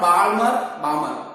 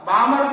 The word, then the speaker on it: Balmer: The L is silent. Not Balmer, Balmer series, n1 is equal to 2 and n2 is equal to 3, 4, 5, etc.